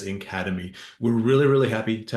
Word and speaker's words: NCADEMI: NC a d m which we will pronounce as Academy we're really really happy